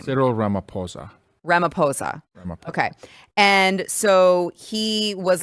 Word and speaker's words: Ramaphosa: with the South African president, how do you pronounce his name? Cyril Ramaphosa. Ramaphosa.